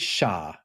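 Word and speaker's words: siar: Now I'm going to pronounce this wrong, but I think it's sha. It's s i a r, which means both westward, but it also means behind you.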